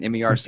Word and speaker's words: Merced: Okay, and Merced, is how you say that one? MERCED? Mm-hmm. Merced.